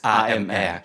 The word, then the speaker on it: ÁMR: it's AMR in English, French. but in French, yes, that's it's right. pronounced as IMR.